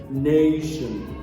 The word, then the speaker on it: nation: What about this word, nation? The primary stress is placed on the first syllable, nation.